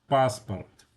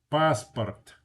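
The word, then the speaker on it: паспорт: The first A is stressed. The second vowel, the O is not stressed. When an O is not stressed, it's pronounced ah. Okay? So, passport. It's not passport.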